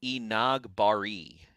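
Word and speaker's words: Enagbare: really it's capitalized so e nag bari is what i believe um and the emp the accent is on nog so inaugurate that's what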